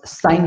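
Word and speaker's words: sine: The first one is known as साइन theta, इसको sin pronounce नहीं करेंगे, साइन pronounce करेंगे, तो साइन थीटा हो गया।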